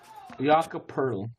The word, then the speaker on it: Jakob Poeltl: You trying to trade for Jacob Potel? No, I'm not. Hell no. Turtle can stay his ass over there. How do you say his Bro, name? don't make me throw Jakob Poeltl. Jakob Poeltl.